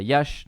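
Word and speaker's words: Iași: a quand même augmenté ensuite on passe à Yash donc Yassi en fait ça se prononce y hein je le prononce correctement euh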